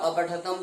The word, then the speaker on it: अपठत: ध्यान दें, ये अपठत त का उच्चारण पूरा करना होगा। यहाँ पर कोई हलंत नहीं लगाया जाता है।